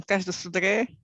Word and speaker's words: Cais do Sodré: I can pronounce them: Cais do Sodré, Alcântara, Belém. This is the Portuguese way, of course.